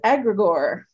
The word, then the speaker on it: egregore: have a topic we do the topic is agrigore agrigore yeah it's spelled e-g-r-e-g-o-r-e wait e.g yes is that related